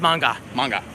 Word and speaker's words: manga: for pronouncing it right it's not man guy it's manga manga yeah be careful I've